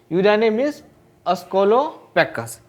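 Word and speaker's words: Eudynamys scolopaceus: यूडाइनेमिस क्या होगा अस्कोलोपेकस, अस्कोलोपेकस प्रोनाउंसिएशन कीजिएगा यूडाइनेमिस अस्कोलोपेकस।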